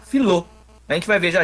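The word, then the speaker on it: φιλῶ: O filéu é a mesma coisa, né? Ele vai tirar o epsilon, vai ficar filô.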